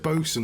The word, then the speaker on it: boatswain: was my point was it says boatswain and they pronounce it boasting and I'm like oh I get it it's one of those things um so I'll type